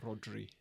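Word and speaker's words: Rhodri: you wanted but you it's it's RH to start RH Rod you got to roll your ass like a cat purring so yeah go check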